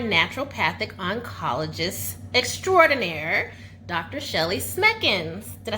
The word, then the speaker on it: Smekens: Shelly Smekens.